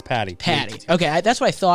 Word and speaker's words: Patti: problems thanks for having me how do you pronounce the last name it's Patty Patty okay that's what I thought I just wanted